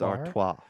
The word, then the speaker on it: Artois: uh Stella and I was like no it's Artois uh Miller High Life you're putting an r